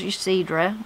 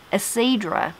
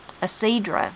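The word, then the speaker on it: Yecedrah: My name is what I thought was Ysidra, Y-E-C-E-D-R-A-H, as I said, but she said it is pronounced with the Y silent, Ysidra. Ysidra is what it's called.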